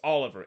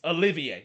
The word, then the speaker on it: Olivier: his face and say it's not pronounced Oliver, it's Olivier. It's it's f French basically.